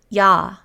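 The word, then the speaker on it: ㅑ: If we take this base vowel ah and add a second leg to it, it gains a Y sound. Instead of ah, it's now ya.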